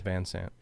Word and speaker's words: Van Sant: Is that the correct pronunciation, or is it Van Sant? Van Sant.